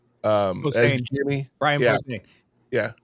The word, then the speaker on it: Posehn: Posehn.